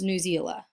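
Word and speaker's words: Newsela: are storyworks epic and news ela sometimes pronounced new zeala i evaluated the features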